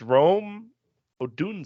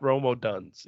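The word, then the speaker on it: Rome Odunze: this class all right I learned how to pronounce this player's last name today it's Rome oh Doon say it's not Romo duns even though Romo duns rolls off the tongue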